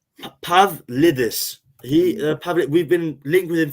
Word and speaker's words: Pavlidis: I'd rather go, Pavadivoulis from AZ, Pavadilius, the Greek guy. AZ. No, I don't know him. He plays what? Elliot help you with that. Elliot help you with the pronunciation of that one. Wait, I've got him here. Pavlidis.